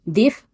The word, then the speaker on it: DIV: Se llamaba DIF Gen Studio y DIF se escribe DIV y estaba para MS2.